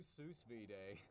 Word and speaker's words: sous vide: All right, we'll do sous vide. Did you say sous vide? Yeah, or whatever. How's it pronounced?